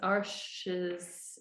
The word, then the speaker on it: Arches: The paper I'm using is Arches, A-R-C-H-E-S. I think it's pronounced Arche en français.